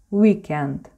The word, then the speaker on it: weekend: написание на польское произношение weekend в этом слове первый звук сохранился с английского и произносим его на английский манер или же это w очень похожее произношение на польской варды уикенд выходные суббота и воскресенье пицца